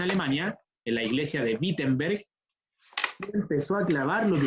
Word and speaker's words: Wittenberg: cuarenta como se llama la iglesia peter se pronuncia wittenberg pero se escribe con w a los alemanes